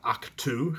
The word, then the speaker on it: Ahch-To: I did have my spoiler video about what happens to Luke and Rey on Ahch-To.